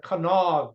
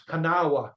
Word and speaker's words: Kanawha: After that, Jacob Cox was assigned his division was called the Kanawha Division. You're looking at it, you say that's Kanawha.